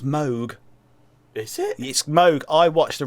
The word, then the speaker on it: Moog: all also mushroom clouds MOOC keyboards it's actually pronounced mogh it smoke I watched